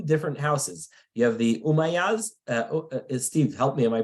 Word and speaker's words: Umayyads: You have the Umayyads. Steve, help me. Am I pronouncing it correctly? The Umayyads versus the Abbasis?